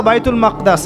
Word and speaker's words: বাইতুল মাকদিস: এবার এই বোরাক চলে গেল বাইতুল মাকদাস। এটা কোথায়? বাইতুল মাকদিস। সরি বাইতুল মাকদাস না বাইতুল মাকদিস।